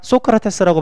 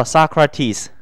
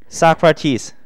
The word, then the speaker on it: Socrates: 소크라테스라고 발음하지 않죠? 발음 따봐. Socrates. Socrates.